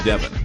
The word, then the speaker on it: Deon: my name's not professional am I saying your name right Devon or Deon well it is actually Deon but I you want